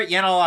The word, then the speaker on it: Yanal: first name what it rhymes with flannel it's Seattle but if you look at it for yanel ash Moe's I mean